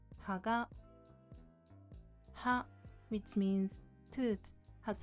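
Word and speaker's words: 葉: Ha, which means leaf, has lower pitch than the following particle, so it's pronounced haga.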